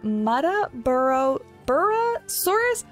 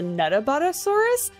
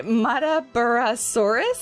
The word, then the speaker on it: Muttaburrasaurus: In Jurassic World Evolution 2, I was actually calling this the Nuttaburrasaurus, or Nutter Butter, like the candy bar. But anyway, Muttaburrasaurus, I think is how you say that one.